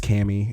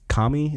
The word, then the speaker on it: Kami: It's not pronounced Cami. It's Kami.